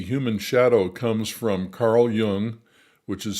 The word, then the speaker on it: Jung: The concept of the human shadow comes from Carl Jung, which is spelled J-U-N-G, if you want to look it up.